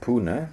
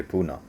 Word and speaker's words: Pune: I guess the pronunciation when you look at the spelling is like Pune, but most people I know say Pune.